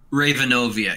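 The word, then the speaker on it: Ravenovia: starts whether Ravan ovo you say Raven oviya yeah Ravan OVR Ivanova I probably Raven obeah alright that's been basically like spelling it how it's pronounced yeah raven like the bird and then oviya what do you think guys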